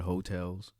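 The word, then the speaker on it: Heaux Tales: It's called Hotels, and I think it's spelled like AHEAUX, Hotels, TALES.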